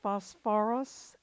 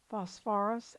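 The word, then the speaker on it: phosphorous: therefore this is now you're going to have to add an extra syllable for ease of pronunciation and this becomes phosphorus acid phosphorus acid what about this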